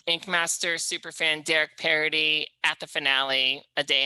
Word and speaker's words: Paradis: the ink master Super Fan video of Derek parody and I didn't I thought it was Paradise the whole time I've been calling you oh